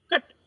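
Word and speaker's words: cut: ಪದದಲ್ಲಿ ಯು ಮಧ್ಯದಲ್ಲಿ ಕಂಡುಬರುತ್ತದೆ ಆದರೆ ಮಧ್ಯದಲ್ಲಿ ಯು ಎಂಬುದು ಎರಡು ಪದಗಳಲ್ಲಿ ಸಮಾನವಾಗಿದ್ದರೂ ಕೂಡ ಅಲ್ಲಿ ಪುಟ್ ಎಂಬ ಉಕಾರ ಉಚ್ಚಾರಣೆಯನ್ನು ಮಾಡುತ್ತೇವೆ ಸಿ ಯು ಟಿ ಎಂಬ ಪದದಲ್ಲಿ ಕಟ್ ಎಂಬ ಅಕಾರವನ್ನು ಉಚ್ಚಾರಣೆಯನ್ನು ಗಮನಿಸುತ್ತೇವೆ ಹಾಗಾಗಿ ಈ ರೀತಿಯಾದಂತಹ ಕೆಲವು ವಿಶೇಷತೆಗಳನ್ನು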